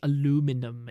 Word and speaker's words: aluminium: much prefer English spelling for things you also pronounce and spell aluminium weird yeah I don't understand how Americans can say aluminum it's linium l minum i blame the public